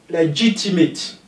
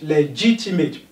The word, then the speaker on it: legitimate: Legitimate. G is stressed. Legitimate.